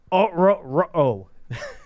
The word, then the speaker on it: Ororo: Rook Ororo. That's actually it's Ororo. It's like Scooby-Doo. It's phenomenal. It sounds like Scooby-Doo.